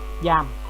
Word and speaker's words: giam: Trường hợp nếu mà không có d thì đọc là jam, jam, được chưa? Nếu mà không có g thì đọc là dam, dam, mà đi với g thì đọc là giờ, giam, được chưa?